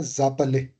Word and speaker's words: vous appelez: हाँ, तो ये जो एस है, it will be pronounced, but pronounce किस तरीके का होगा? जेड की तरह. एंड it will be pronounced with the next word. तो ये क्या बन जाएगा? जापले.